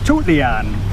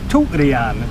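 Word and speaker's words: ทุเรียน: In Thai language, durian is tutlian. It's spelt basically with a T, not a D. So the proper way to say durian in Thai language is tutlian. Tutlian is Thai for durian.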